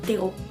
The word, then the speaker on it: Theroux: Theroux. It's Theroux. The thing is, it's a French name.